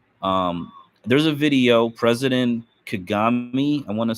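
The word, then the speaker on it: Kagame: with that philosophy um there's a video president kagami I want to say is how he's pronounces this k a g a m he's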